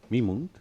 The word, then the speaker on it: Mimunt: Mimunt con acento en la Hamido.